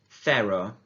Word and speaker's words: cero: So the first one is the number 0, and the way that we pronounce this in Spanish is cero. Cero, cero, cero. Remember the th sound.